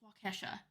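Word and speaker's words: Waukesha: mhm kosha Wan um did you really not know how to pronounce wakesha it's wakesha it is not leave Kesha alone I love Kesha leave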